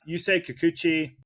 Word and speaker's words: Kikuchi: Yusei Kikuchi, did I pronounce that right?